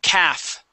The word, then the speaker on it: calf: the word Cavs okay the L is going to be silent we do not pronounce that L it's like the word talk so when we talk